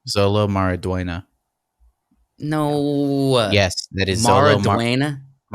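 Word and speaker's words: Xolo Maridueña: you pronounce that name Zolo marua no yes that is marua the u e is pronounced with a YY sound yeah and the N with the uh thing over it is a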